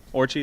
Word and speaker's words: Orci: Orci, is that how you say it? Yeah, Orci.